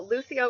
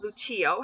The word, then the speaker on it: Lucio: light really great meaning this can of course also be pronounced bucio however Spanish speakers would more likely go with the Lucio pronunciation there is a Brazilian